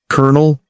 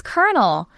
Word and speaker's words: colonel: Colonel. Now, if you read this word, it looks like colonel. 3 syllables, right? Oh, absolutely. Every letter is there, but the correct pronunciation is kernel, like the popcorn kernel.